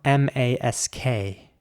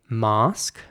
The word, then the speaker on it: mask: Once again, in British English, people would say mask. And in American English, people might say mask. It is again the A I want to stress here.